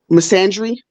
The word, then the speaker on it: misandry: misandry. Yeah. That's how you pronounce it, misandry.